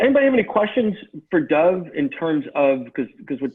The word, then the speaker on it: Dov: My name doesn't have an E on it, even though Peter loves to pronounce it that way. My name is not Dov, that's a bird. It's Dov, like a dog, but with a V.